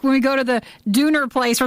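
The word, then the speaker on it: Döner: Now, see, we always call it donor. Is it Dooner? It is Dooner. There are two dots above the O. Yeah. And it actually makes a U sound.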